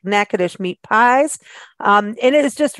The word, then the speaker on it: Natchitoches: radios third Tuesday go to Natchitoches show now nakadish is the oldest settlement in the state of Louisiana and it's pronounced nakadish but it is spelled out as n-a-t-c-h-i-t-o-c-h-e-s uh